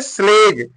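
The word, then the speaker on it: sledge: अगला वर्ड क्या है स्लेज स्लेज में देखिए यहां पर डी और जी है जी के पहले डी है तो यहां भी डी क्या हो जाएगा साइलेंट हो जाएगा तो स्लेज लिखा जाएगा स्लेज होता है बे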